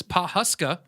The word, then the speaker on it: Pawhuska: made his way to paw Paw's I can't pronounce this Pawhuska pa WH you ska Papa Oklahoma that's all